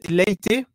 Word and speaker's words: Leite: Alors c'est late. Je veux pas dire de bêtis Carla Late voilà je sais que la dernière fois déjà je m'étais planté dans la prononciation donc Late euh qui